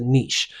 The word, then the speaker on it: niche: And I think I mispronounced the word niche. It's a niche.